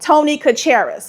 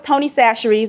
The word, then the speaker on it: Chachere's: But baby, when I first started on social media, I used to say Tony Chachere's because that's how my mother pronounced this seasoning.